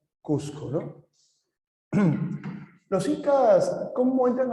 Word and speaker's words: Cusco: el Costco correcto ya en castellano se pronuncia cusco no los incas Cómo